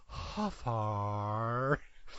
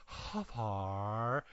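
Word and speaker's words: Hfuhruhurr: Michael Huffar. And nice. Spelled, yeah, here we go. It is spelled Hfuhrurr. And you have to say it with that little pause, Huffar.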